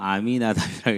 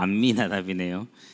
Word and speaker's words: 암미나답: 저는 항상 아미나답이라고 읽었는데 보니까 암미나답이네요. 사람의 관념이라는 게 무서운 것 같아. 항상 아미나답이었지 암미나답이 아니었는데 오늘 보니 사회자가 읽는 걸 들으면서 암미나답이었구나.